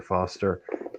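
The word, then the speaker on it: Forster: his name is Fraser Foster the r is silent and there's another Craig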